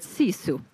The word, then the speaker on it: sisu: It's, yeah, sisu. It's quite a soft word. Yeah, but they, you know, the Finnish, they say it like this, sisu.